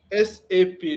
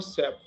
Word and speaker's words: SAP: Correct pronunciation is एसएपी नॉट फॉर सैप okay एसएपी तो जैसे कि system application and product in data processing मतलब हम क्या करते हैं यहां पे?